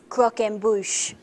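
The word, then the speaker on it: croquembouche: croen yes I'll give you that or Croc Croc M Bush I believe is the correct pronouncing there actually David it is croen Bush yeah thanks so which animal appears on the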